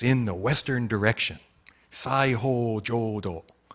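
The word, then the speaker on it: 西: Sai ho jodo, right? The sai is nishi, like west, if you know nishi, like nishi honganji, right? That nishi is west, but the Chinese pronunciation, the onyomi is sai.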